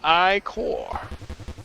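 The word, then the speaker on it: ichor: fill it with magical iore that's pronounced I core choose your iore wisely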